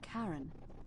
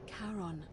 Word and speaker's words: Charon: Only your pronunciation is a little off. The name you heard wasn't Karen. It was C-H-A-R-O-N. Oh. As in Charon, the ferryman of the dead.